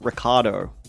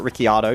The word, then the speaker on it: Ricciardo: This time, Daniel Ricciardo, or Ricciardo, depending on how you say it, the Australian Formula One Grand Prix driver, he popularized it.